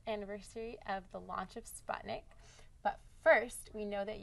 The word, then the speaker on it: Sputnik: actually, when I first Sputnik, if you pronounce it in a more correct way, really? but it's a standard way in the English language people pronounce Sputnik.